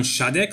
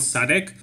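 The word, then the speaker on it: Šádek: good competitor is Milan shadek so that's how I pronounce his last name shadek not static this guy is dieting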